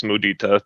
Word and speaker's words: mudita: I don't have the proper pronunciation of, but it's mudita technically, how it's said.